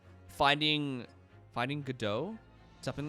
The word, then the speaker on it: Godot: reminded me of not got it go dots it's go dot not got it i've been saying it wrong all this time coco i played the entire third game calling him got it oh my god what